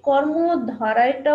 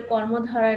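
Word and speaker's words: কর্মধারয়: দ্বিগু সমাস কর্মধারায় সমাস এই কর্মধারায়টা উচ্চারণ করতে যে অনেকে কর্মধারায় বলে আসলে কর্মধারায় না এটা তোমরা খেয়াল করো এটা হবে কর্মধারায় তৎপুরুষ সমাস অব্যয়ীভাব সমাস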